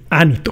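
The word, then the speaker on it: Ánito: también la figura de anito eh anito con acento en la a Okay que es uno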